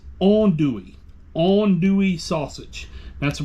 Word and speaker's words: andouille: little bit restarts not Richards re-shorts green onion on dewy sausage that's right it's not andouille it's on Dewey on dewy sausage that's a proper pronunciation just